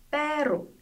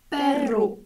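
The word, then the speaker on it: perro: 문자 얼이 단어 첫 번째에 나오거나 N, S, L 뒤에 나올 때 그리고 얼 두 개로 표기될 때 이렇게 발음해 주시면 돼요.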